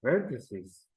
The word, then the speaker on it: vertices: vertices okay maybe we have to provide the pronunciation also for uh this word okay veres veres okay vertices vertices vertices okay okay and then H ages my